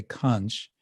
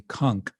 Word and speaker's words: conch: So it's interesting that the Panchajanya, the conch, actually the proper pronunciation in English, we always say conch, but it's actually conch.